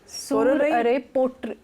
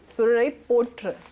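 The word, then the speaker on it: சூரரைப் போற்று: सोरराई Pottu, सूररे पोट्र, पोट्र RU है, हाँ RU है, सूररे पोट्र, सूरराई पोट्र।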